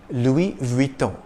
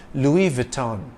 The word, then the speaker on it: Louis Vuitton: dress of all time Louis Vuitton is one of the world's leading fashion houses the S is silent in the first name Louis if you tend to